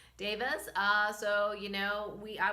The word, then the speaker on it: devas: with the nature Davis I think that's how you pronounce it David right not Deva Davis so you know we